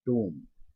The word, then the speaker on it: tomb: अब इसमें TOMB, तो इस स्पेलिंग में तो कुछ भी लिखा है, तो हम इसको पढ़ रहे हैं टूम, यानी बी साइलेंट है।